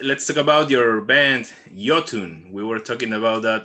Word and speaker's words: Iotunn: talk about your band yotun we were talking about that earlier the for everybody out there who's watching this interview the right pronunciation of this new band by metal blade is jotun not lotum so to start